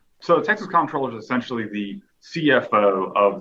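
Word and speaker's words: comptroller: I pronounce it comproller because that's the way it's spelled, but it's certainly an internal debate that's continuously happening within the agency and outside the agency as well.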